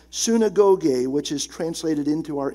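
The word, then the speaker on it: συναγωγή: a synonym of eklesia it's the Greek word pronounced sinagog which is translated into our English synagogue that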